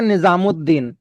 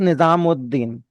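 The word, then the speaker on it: نظام الدین: तो इसको कंटिन्यूएशन में पढ़ते हैं निजामुद्दीन। तो दीन के ऊपर वो थोड़ा स्ट्रेस आता है वो तजदीद से। वो इस वजह से आता है। It becomes निजामुद्दीन। तो वो उद बन जाता है। लिखा अलिफ लाम ही जाएगा। पढ़ा उद जाएगा।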